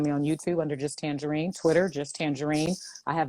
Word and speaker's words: Tanjareen: the show um official tangerine is my name on facebook and instagram tangerine is not spelled like the fruit it's spelled t-a-n-j-a-r-e-e-n like